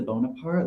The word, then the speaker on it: Bonaparte: And I loved Michael on Southern Hospitality was like Bonaparte, like he's a Bonaparte, like that's how you say it, like Napoleon, like he was like Napoleon Dynamite.